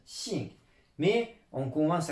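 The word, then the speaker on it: 姓: Quand il est collé à la clé de la femme, ça se prononce xing.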